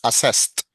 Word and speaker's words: assessed: In past, Yes, assessed with assessed. the t sound at the end.